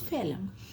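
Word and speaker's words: phloem: कि जलम एंड फेलम ये बच्चों इनमें प्रोनंसिएशन भी बहुत इंपॉर्टेंट होती है क्योंकि इनकी स्पेलिंग्स अलग होती है और प्रोनंसिएशन अलग है this is xylem and this is फेलम ये नाम है दो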